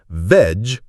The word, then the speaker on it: vegetable: The correct pronunciation is veg-ta-bull. Think of it as veg, like edge, then a very soft ta, and finally bull, like bull.